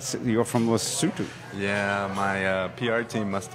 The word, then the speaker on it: Lesotho: It's called Lesotho. Yes, sir. Even though it's spelled Lesotho.